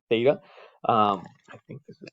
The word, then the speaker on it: theta: what we call your reference angle it's it's pronounced theta um i think this is nice i'm not